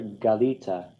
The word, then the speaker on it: galita: So you might want to write that in there in the second person masculine singular, Galita, and in the first person common singular, Galiti. It's on the second to last syllable.